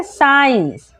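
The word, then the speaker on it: science: ना तो सी को हम लोग कर देंगे साइलेंट तो क्या पढ़ते हैं साइंस ठीक है सी हो जाएगा साइलेंट क्योंकि वो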